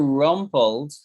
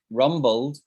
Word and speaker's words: rumbled: somebody however if you're rumpled right rumbled rumble will get i've got i pronounced it wrong on myself it's for the b if you're rumbled it's